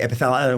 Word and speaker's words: Epithalon: Is it Thalon or Talon? The Russians say Epithalon. It's the way they say it, but it's spelled with a TH. Okay. So I'll say Epithalon.